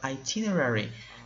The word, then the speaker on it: itinerary: next word is itinerary I teen ireri okay a little tricky to pronounce but itinerary it is a special